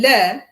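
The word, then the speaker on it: ለ: Le is pronounced the same word like let me, like, the le in let.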